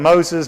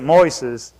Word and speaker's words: Moises: But this is, most people call him Moses, but you pronounce it Moises.